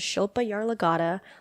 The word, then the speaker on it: Shilpa Yarlagadda: I should say her name her name is Shilpa yaar lagata look her up she's amazing and listen to